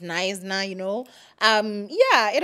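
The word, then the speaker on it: Knysna: fact that I said kesna whilst it's nna it's pronounced nna you know um yeah it happens um it is that you know cuz why is the K silent I don't know you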